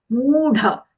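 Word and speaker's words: मूढ: Mudha. The dha here is mahaprana, not mudha.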